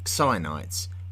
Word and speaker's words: Chionites: down to us today as Chionites, spelt X I O N, and I'm choosing to pronounce it as Chionites based on what I have read.